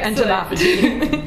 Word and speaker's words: entomophagy: So it's all just where you put the, it depends on your prefix and where the, emphasis is on syllable of your prefix, then changes how you pronounce the suffix.